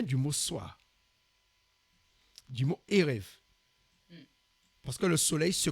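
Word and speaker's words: ערב: Alors la lettre B là, la lettre V, on voit bien c'est un B. On prononce Erev, mais ça s'écrit avec un B.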